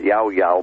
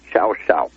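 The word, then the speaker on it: Llao Llao: you pronounce it l-l-a-o-l-l-a-o in spanish that's pronounced yao yao but in argentine spanish it's chow chow it's a very very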